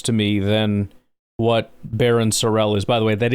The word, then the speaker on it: Sorrell: But that's a little more Seavon Williams to me than what Baron Sorell is. By the way, that is how you say his name. It's not Sorrel, it's Sorell, just for those wondering cuz I know there's a lot of that.